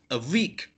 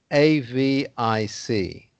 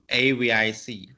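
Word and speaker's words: AVIC: four letters please jerry a week no no you don't pronounce them like a word you pronounce them separately so you would say a v i c a v i c it's a bit like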